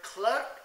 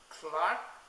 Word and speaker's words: clerk: to be made clear the word clerk is pronounced Clark in British English but cler in American English the word choric is